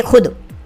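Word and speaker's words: خود: इसको हम पढ़ेंगे खुद। यहाँ पर ये वाव साइलेंट है।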